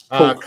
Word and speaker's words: Koch: Coke. Koch Industries. Coke. Is that It's Coke? pronounced Coke. K-O-C. It's pronounced like Coca-Cola Coke. That's how it's pronounced.